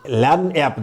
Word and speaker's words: lagniappe: I have just titled it as a LAN app, that is Lagniappe, that is wrongly pronounced Lagniappe, that is LAN app, means gift,